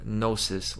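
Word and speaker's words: gnosis: real direct knowing or nosis which by the way the g is silent that's a g-word that's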